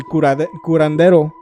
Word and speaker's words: curandero: They wouldn't investigate until a healer known as El Curandero.